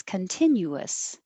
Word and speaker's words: continuous: Luxurious. Luxurious. Same pattern as continuous. Continuous.